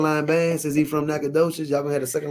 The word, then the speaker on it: Nacogdoches: Is that how you pronounce it? Yeah, it's Nacogdoches.